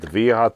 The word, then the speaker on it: Wiha: is it is it viha tools anybody know this is VHA VHA I know those ver they pronounce a w like a V German so anyway bought one